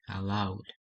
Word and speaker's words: allowed: so it would be allowed as I show you you shouldn't pronounce the Ed allow with in this case because the end is